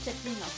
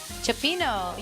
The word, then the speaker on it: cioppino: I love cecchino. Cioppino.